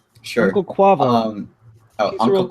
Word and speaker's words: Quavo: According to Uncle Kwa, I don't know how to pronounce it, but according Uncle to Kage? Sure. Uncle Quavo. Uncle Quavo.